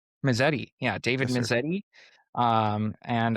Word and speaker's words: Mezzetti: Uh David, is it pronounced Misiti? Misetti. Misetti.